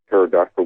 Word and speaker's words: pterodactyl: heard the other day why can't you hear a pterodactyl going to the bathroom because the pee is silent no yes i got